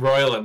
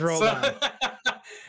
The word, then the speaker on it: Roldan: Oh, I pronounced him Royland. That's why. Yeah, it's Roldan.